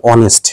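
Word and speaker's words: honest: এখানে এই উচ্চারণটা কিন্তু, এই শব্দটার উচ্চারণ কিন্তু হনেস্ট হবে না, হনেস্ট এটা এরকম হবে না, তাহলে এটার উচ্চারণটা হবে অনেস্ট, অর্থাৎ হ না হয়ে অ হবে।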